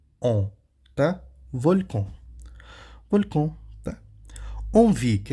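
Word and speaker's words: envie: onvi que é inveja que que nós temos em onvi é a letra é essa junção de letras en não e Gente pelo amor de Deus a junção de letras en aqui na sílaba ó en dá o som de de quê de OM tá onvi an Von T aqui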